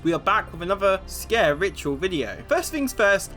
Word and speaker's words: Sker: It was also covered that it's not Sker ritual, not in Welsh anyway, it's Sker ritual. And because of my lack of Welsh accent, I'm still not saying it right.